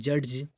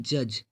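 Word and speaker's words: judge: हम ऐसे थोड़ी बोल रहे हैं जज, हम क्या बोल रहे हैं? जज, है ना। तो डी नहीं आ रहा है, मतलब हम डी का उच्चारण नहीं कर रहे हैं, प्रोनाउंसिएशन नहीं कर रहे हैं, तो डी साइलेंट लेटर हो जाएगा।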